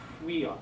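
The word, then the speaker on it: υἱός: If you say it together real quick, it's huios, huios.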